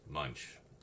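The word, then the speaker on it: Moench: Doug, I always wondered how to pronounce his name, but it's just Munch.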